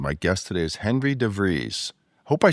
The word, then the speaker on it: DeVries: your host, and my guest today is Henry DeVries. Hope I said that right, Henry. You said it perfectly. Henry DeVries rhymes with the breeze.